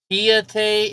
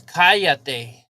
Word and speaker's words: cállate: Kiate in Spanish is... No, it's cállate.